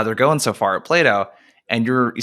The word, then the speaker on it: Plato: approach because you just started and is it Plato is that how you pronounce the company's name yeah exactly okay so